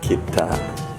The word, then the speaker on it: kita: It's like kitty but kita.